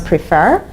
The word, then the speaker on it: prefer: you to just pronounce prefer write prefer the stress was on the second syllable and F prefer but